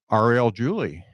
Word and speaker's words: Ariel Julie: gonna bring her up right now it's uh Arielle Julie hopefully I pronounce that right do they pronounce that right